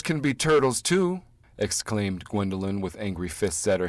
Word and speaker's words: Gwendoline: what's your name asked Pete after a pause gwendelyn she said proudly Wendy land Wendy said Pete trying his best to pronounce her name Wendy that is not my